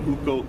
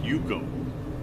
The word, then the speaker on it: UCO: option someone explore with you this is the hukou candle lantern hukou it's pronounced you go and thank you bro they've been around since